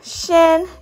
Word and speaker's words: -cian: some examples okay so here's the pronunciation shin you pronounce it shin s-h-i-n here we have